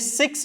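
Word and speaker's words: sechs: പറയുക ഫ്യൂൻഫ് ഫ്യൂൻഫ് ഇനി സിക്സ് വരുന്ന സമയത്ത് എസ് വെച്ചിട്ടാണ് സ്റ്റാർട്ട് ചെയ്യുന്നത് സോ സെഡ് ആയിട്ട് ഉച്ചരിക്കണം സെക്സ് സെക്സ് സിക്സ് വരുന്ന സമയത്ത് സെക്സ് സെവൻ വരുന്ന സമയത്തും മെയിൻലി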